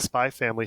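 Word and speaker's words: Spy × Family: recommend starting with the Spy Family soundtrack. Okay. I'm not familiar with the Spy Family. If you spell it out, it's Spy X Family, but you don't pronounce the X.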